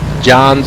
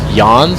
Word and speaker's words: Jahns: this man for uh J's I think somebody said it might be pronounced yans like with a Y this thing is beautiful